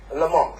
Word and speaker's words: Lamont: Joanne Lamont. Why is that interesting? When we had a Chancellor, he was always called Lamont rather, and you're called Lamont, which I know is the Scottish pronunciation.